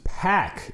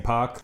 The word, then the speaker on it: PAC: pack is how they're having everyone pronounce it which is weird cuz I'm used to saying pock I'm gonna say pop